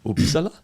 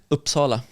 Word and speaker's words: Uppsala: How do you say where you're from? Uppsala. Is that good? Uppsala. Oh, that's nice.